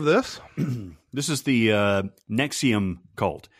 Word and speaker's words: NXIVM: this is the uh nexium cult it's it's stylized as nxivm but it's pronounced as nexium like the acid production purple pill yeah yeah um okay